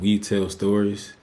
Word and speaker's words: WeTale Stories: It's called We Tell Stories, and not like TELL. It's spelled WETALE Stories space TV on YouTube.